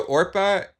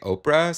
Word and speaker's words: Oprah: No, Orpah is a biblical name. Yes. And people just couldn't say it right, and so they kept just saying Oprah, so then she just became Oprah.